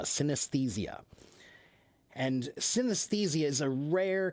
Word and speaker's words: synesthesia: Uh, so it's pronounced sinthesia. Sinthesia. Synesthesia.